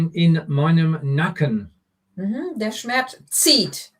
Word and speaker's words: zieht: Der Schmerz zieht. It's a Z. It's a bit like a TS pronunciation. Der Schmerz zieht bis in meinen Nacken.